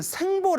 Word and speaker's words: 생보: 두 번째 는 " 생보 " 라고 불립니다 . 어떤 종류 의 "bo" 인가 요 ? 생보 . " 생보 " 는 하나 , 둘 , 셋 의 " 생 " 처럼 발음 됩니다 .